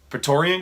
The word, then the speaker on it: Praetorian: and kylo Ren fighting the Praetorian guards Torian guards I said it right the first time um Tory guards seen